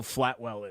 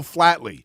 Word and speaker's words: Flatley: course you don't yeah it's because you're saying his name wrong it's Michael Flatley sorry whatever there's a